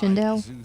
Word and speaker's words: Shindel: M okay the and your last name is pronounced shindel shindell yesk I've been